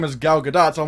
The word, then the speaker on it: Gal Gadot: name like for example with gal gadot she pronounce her name is gal gadot so I'm like okay she's gal gadot but